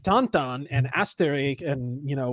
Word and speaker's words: Tintin: did you feel about tintin uh tantan i like dantan i don't know about okay that's how you pronounce it yeah i don't know